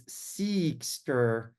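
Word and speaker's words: Seqster: And so if you look at the E in Seekster, there's a purple little line above the E because it's Seekster, and that's how it's pronunciated.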